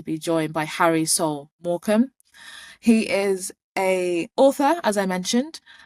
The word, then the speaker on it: Markham: And by the way, it's Markham. Do you know, No, just before this, I actually asked him how to pronounce it, and then I've messed it up.